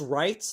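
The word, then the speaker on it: Wright: know, like in in in Phoenix writes the W is silent.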